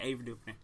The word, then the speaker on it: Ava DuVernay: But I think I didn't love Selma, but I think Ava DuVernay, is that how you pronounce her? Yeah, Ava DuVernay.